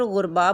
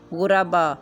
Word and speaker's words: غربا: وصول، حدود، رسوم، فنون۔ لفظ ہے غربا، جس کو عام طور پر غربا بولا جاتا ہے۔ اس کا صحیح تلفظ ہے غائن کے اوپر پیش، رے کے اوپر زبر، بے کے اوپر زبر، الف ساکن، غربا۔ اس جیسے اور لفظ